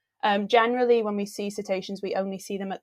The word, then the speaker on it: cetacean: um so yes you are saying it right cetacean is the collective team for whales dolphins and